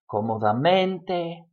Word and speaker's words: cómodamente: when you write them, but when you pronounce them, cómodamente, rápidamente, útilmente, the stress goes on the mente.